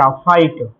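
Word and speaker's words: fight: हो जाएगा फाई और टी को पढ़ेंगे ट फाइट।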